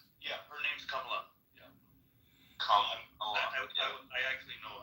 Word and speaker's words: Kamala: What happened when Kamala came up to power?